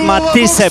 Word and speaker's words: Matthysse: no i jej rywalka Edith Matisse, bo tak się powinno je wymawiać, ma holenderskie pochodzenie, 16 wygranych, 10 porażek, 1 remis.